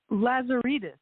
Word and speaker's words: Lazaridis: How do I pronounce your last name? Lazeritus. Okay. Well, I probably would have guessed right. Okay. Henriette Lazeritus is the author of The Clover House, which was a Boston Globe bestseller.